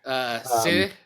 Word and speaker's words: sidhe: Sidhe, which I think is actually pronounced like she.